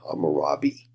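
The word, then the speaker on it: Hammurabi: on the right side hamurabi uh it's how that name is pronounced and he takes a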